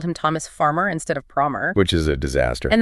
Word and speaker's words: Promer: It called him Thomas Farmer instead of Promer.